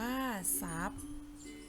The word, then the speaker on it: ทรัพย์: 3 ซอง อ่าน ว่า ส่ง ทรัพย์ อ่าน ว่า ทรัพย์ มี ข้อ สังเกต นะ คะ เด็ก ๆ หาก